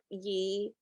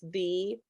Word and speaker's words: ye: Have you heard that it's not ye, it's thee? that the Y is actually a TH symbol.